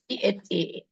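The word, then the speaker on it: ث: The pronunciation is THA. That's what I said. Some of the letters I'll be telling where to pronounce the letters, where to keep the tongue, but the video will be shared today itself. Okay. The. Don't say to.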